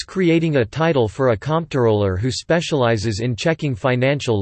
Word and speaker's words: comptroller: in checking financial Ledger's this etymology explains why the name is often pronounced identically to controller despite the distinct spelling however controller is sometimes pronounced phonetically by those unaware of the words origins or who wish specifically to avoid confusion with controller topic business role a